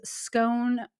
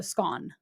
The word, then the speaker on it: scone: your English grandmother says scone rhymes with gone okay so scone she would say scone